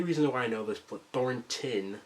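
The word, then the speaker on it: Thornton: why I know this Thor tin sorry I've literally been pronouncing it thoron my whole life thoron Wilder I'm going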